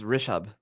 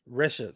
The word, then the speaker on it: Rishabh: Yeah, it's Rishabh. Rishabh. See, I was gonna say Rashid.